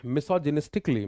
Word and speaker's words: misogynistically: And the last one is misogynistically, misogynist एक अली, it is pentasyllabic, इसमें 5 टुकड़े हैं।